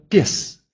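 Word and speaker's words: pies: Следующее слово «пес». «Пес». Собака, пес.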